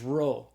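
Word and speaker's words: rho: So the row is the R sound like the R in the English word rod.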